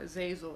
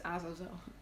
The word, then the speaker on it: Azazel: his name he's uh he will probably be very happy if you pronounce it the way i'm doing it and not like azel or that's because that's the english that that's not his name his name is not azazel it's azozo so okay eddie bailey